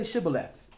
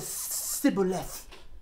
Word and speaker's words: Shibboleth: certain border and said say Shibboleth if you said sibilance sibilance you couldn't pronounce this the shin properly or whatever then you got killed